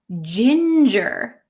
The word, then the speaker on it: ginger: Is ginger. Ginger. Ginger. It's a soft G sound. Ginger.